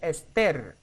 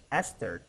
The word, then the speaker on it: Esther: In Spanish we say Esther, the opposite, the stress in ter, but this is the opposite. Esther, right?